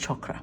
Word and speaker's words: chakra: see I love that actually it's pronounced chokra but still um somebody